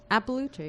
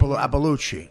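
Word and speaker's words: Iapalucci: Well, how do you say your name? That's how you say your name. Appalucci. Appalucci, yeah, Appalucci. All right, calm down. That's not the real way of saying it. Appalucci. Do you have a real, your name, what do you mean it's not the real way? That's like how real Italians pronounce Right. it, is like Appalucci.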